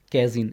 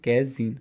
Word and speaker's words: casein: देखिए अगला जो है मैक्सिमम 22वां क्वेश्चन था cow milk protein is called, इसको क्या कहते हैं, कैजीन, स्पेलिंग बता देता हूँ, उसको ध्यान नोट कर लीजिए, कैजीन, CASEIN, कैजीन, ठीक है।